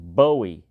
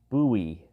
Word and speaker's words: Bowie: was James buoy buoy the name rhymes with Louie not Joe is one of the